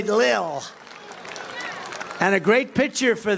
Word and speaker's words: Lil: one of the few rapper L pump little pump L little I said how do you pronounce that they say Lil and a great picture